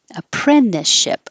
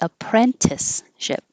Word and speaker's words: apprenticeship: Appren- Apprenticeship. I forgot. You can say the T, apprenticeship, but you can drop the T because it's after the N in the unstressed syllable. Apprenticeship. The apprenticeship phase.